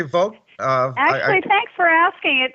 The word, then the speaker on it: Vogt: And did I pronounce your last name correctly, Vogt? Actually, thanks for asking. It's a hard one. It looks so easy, V-O-G-T, but it's pronounced Vogt, as in election day. Oh, so Vogt.